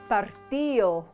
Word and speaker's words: partido: For example, the word casado is pronounced casao, dedo is pronounced deo, partido is pronounced partido.